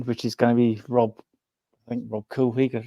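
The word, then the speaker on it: Rob Couhig: We're waiting for the new owner to come in, which is going to be Rob Coolwig, that's how you pronounce him, the ex-Wickham owner, who decided to try and buy our training ground when he was Wickham's owner.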